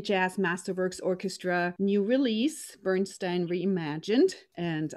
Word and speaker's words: Bernstein: release bernstein reimagined and i'm gonna stick with my bernstein because i know that's the right way to say many americans go with the bernstein because we'll turn it around but bernstein it is my guests today